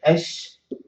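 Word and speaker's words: الشجر: The people manage, or people in the generation say, okay, why don't I just stop that lam and put shadda? I say ash-shajar. So instead, I can pronounce it this way, ash-shajar. So you can see with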